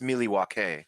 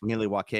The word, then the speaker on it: Milwaukee: I believe it's pronounced Milwaukee. Milwaukee.